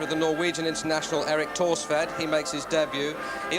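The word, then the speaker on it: Thorstvedt: Torsved in goal then, 51 caps for Norway. You don't pronounce the H in his name, incidentally, taking over, as Elton says, from Bobby Mims.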